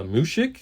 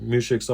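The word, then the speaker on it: muzhik: The other word is a mushik. I hope I'm pronouncing that right. It's spelled M-U-Z-H-I-K, and that's another word that you're going to hear a lot in this story.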